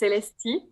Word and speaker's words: Celestee: So you got it right. It's pronounced Celestee. So good point.